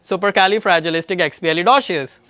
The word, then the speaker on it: supercalifragilisticexpialidocious: So now the pronunciation is, try again, supercalifragilisticexpialidocious.